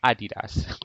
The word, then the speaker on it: adidas: ever used and yes that is the correct pronunciation adidas kimmy jones is a well-known basketball basketball player